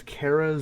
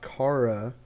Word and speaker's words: Kara: yes, That's not how you pronounce her name. It's Kara Zor-El, not Kara.